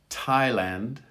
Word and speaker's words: Thailand: now in in english th can also be a t sound in these particular words thomas thomas thailand thailand hello to everyone